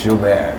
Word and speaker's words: Joubert: It's French, so the correct way is Joubert.